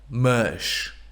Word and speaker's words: mas: But, mush. Mush. Wow. That is even harder than atras. It should be a Z or like an SH, like mush.